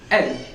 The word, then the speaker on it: elle: It spells E-L-L-E, but we need to pronunciate it as L.